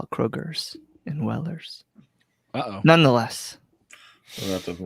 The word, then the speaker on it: Weller: So I know I've been informed by my buddy Todd Carnes that I'm not allowed to pronounce the S. That does not exist.